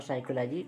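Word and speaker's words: psychology: प है ठीक है ए से पहले प है तो भी व भी साइलेंट हो जाता है जैसे साइकोलॉजी हमने प का प्रंट नहीं किए प को छोड़ दिए और साइकोलॉजी करेक्ट हमारा हो जाएगा ठीक है अब क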